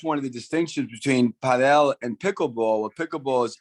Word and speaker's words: padel: I just didn't pronounce it the way the US, he says Padel.